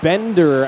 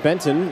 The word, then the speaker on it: Bender: and shoves Aiden a bender out of the way not Benton that was the name I was given last night it is Bender not Benton my apologies to the